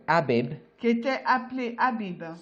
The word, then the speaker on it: Abib: l'année, which was called Abib. qui était appelé Abib. Some people pronounce it Aviv, D'autres personnes disent Aviv, signifying new fruits or green ears.